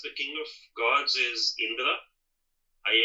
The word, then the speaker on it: Indra: And Indra is um we probably pronounce it here on when it's anglicized as Indira or we think it's that's but it's Indra and Indra is the